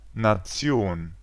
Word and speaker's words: Nation: Si un mot se termine par cela, il se prononce Tion. Par exemple, nation.